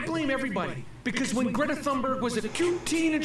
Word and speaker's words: Thunberg: Greta Thunberger. Who is Greta Thunberger? Jew Jewish. Get her name right. Thunberger. Teen Betty. At least don't add a syllable to it.